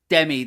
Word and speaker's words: Demme: It's Demme. Yep. Demme, that's right.